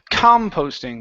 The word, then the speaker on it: composting: Composting. Okay. Yeah, that last word is going to be composting. The stress is at the very beginning.